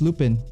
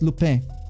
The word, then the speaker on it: Lupin: like okay sure uh you mispronounced lupin uh but i don't blame you sorry it's lupe lupe lupe i am not french